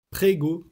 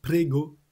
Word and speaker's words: prego: Et ce qui est correct, c'est prego. Je vous mets la prononciation en phonétique. Prego. Prego. Prego. Le e est ouvert comme dans crème. Donc c'est prego, le même e que dans le mot crème.